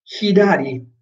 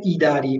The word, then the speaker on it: hidari: o all'inizio della parola, va pronunciata tipo la mano sinistra, hidari. Non è idari, ma hi. Poi il suono a volte sembra quasi shidari, ma non è sh, è shidari.